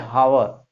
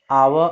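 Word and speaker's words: hour: कुछ स्टूडेंट पढ़ते हैं हावर, लेकिन हावर पढ़ा नहीं जाता है, वो गलत है। क्या होता है, ही केम डैश आवर अगो।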